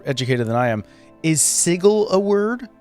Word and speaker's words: sigil: like official D and people have at different time said that it should be seagull like with a hard G sound but um I like